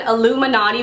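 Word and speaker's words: Illuminaughty: This is an Illuminati, but it's spelled like naughty, N-A-U-G-H-T-Y.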